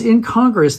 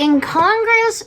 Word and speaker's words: incongruous: Now, I had an answer for that because it was incongruous that we had a certain static reality, which was characters Wait, who... did you say incongruous or incongruous? Incongruous, and yeah, You skipped a syllable.